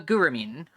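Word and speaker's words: Gurumin: A guramine. It is spelled g u r u m i n.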